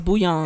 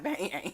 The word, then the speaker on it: Bouillon: No, it's Bouillon. It's not Bang. It's not Bang. It's Bouillon.